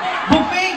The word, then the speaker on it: buffet: Buffet, bobo. Tama, buffet. Buffet! Marunong ako magbasa. Spell mo! B-U, dalawang F-E-T. Chat, Walang Y. you pronounce it as buffet.